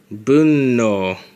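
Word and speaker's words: 分の: actually gets pronounced - it's pronounced as boom no and then after that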